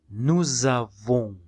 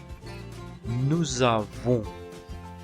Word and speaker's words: nous avons: Recordemos que la S se pronuncia cuando el verbo empieza con vocal y la O al lado de la U suena U. Nous avons. La S al final no la pronunciamos.